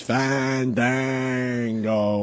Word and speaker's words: Fandango: You gotta say it right. You gotta make sure you let the A's breathe. Fandango.